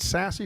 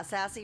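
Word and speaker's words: Sasse: Senator, is it Sassy from Nebraska? Yeah, Sassy, right? I think Sass. it's No, Sass from Nebraska.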